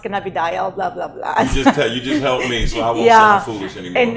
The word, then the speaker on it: cannabidiol: can of a goal no it's pronounced cannabidiol blah blah blah yeah